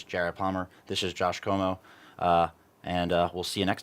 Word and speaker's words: Comeau: way it Josh Como my last name is French so it's spelled c om tau very cool and are